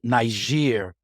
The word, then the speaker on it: Niger: word nigger was because a white porter couldn't pronounce Niger correctly. Right, exactly. He was only educated enough to know that Niger, that G goes good.